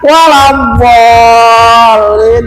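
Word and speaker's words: ولا الضالين: Maka di surat Al Fatihah ayat terakhir, bukan waladh dhol, lingkungan ke depan, salah. Waladh dhol lin. Dilihat di surat Al Fatihah, jangan membacanya waladh dhol lin, ke mana musyadahnya? Ada musyadah di situ.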